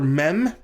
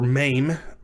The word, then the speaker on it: mem: that in a moment the letter mem or maim to be more to enunciate the vowel sound a little bit more is pronounced like the english letter m in a mother for which reason it